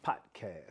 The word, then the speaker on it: Potcast: The Potcast. If you say the D, you saying it wrong. Yep. So you gotta hit like the a T. like a potluck.